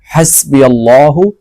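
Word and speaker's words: حسبي الله: দেব এখানে হবে তো এখানে হ দিয়ে পড়লে হবে না এখানে হাসবি আল্লাহু বলতে হবে ঠিক আছে তারপরে এখানে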